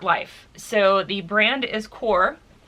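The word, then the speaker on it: Qor: so the brand is core it's supposed to be pronounced like c o r e um it's actually spelled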